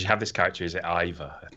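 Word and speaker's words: Eivor: have this character as iva i think that's pronounced e4 and she looks fantastic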